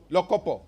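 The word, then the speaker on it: Lokopo: sub-county exactly matani and that's how they pronounce it locopo it's in locopo um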